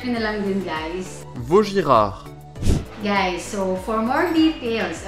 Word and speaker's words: Vuitton: So, niresearch ko kung paano siya i-pronounce. So, check nyo na lang din guys. Vuitton.